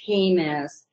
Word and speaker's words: Jemez: Travis, it's Jemez. Travis is a Kentuckian, so he might not have known how to pronounce it, but we're about 50 miles northwest